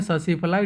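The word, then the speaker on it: tsetse fly: Sleeping sickness होता है cause by ससीफ्लाई, ठीक है, उसको बोलते हैं ससीफ्लाई, T साइलेंट होता है यहाँ पे।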